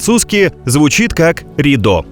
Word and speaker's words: Rideau: Đối với ông, hình dáng của dòng nước đổ xuống giống như một tấm màn, trong tiếng Pháp phát âm là rideau (rido).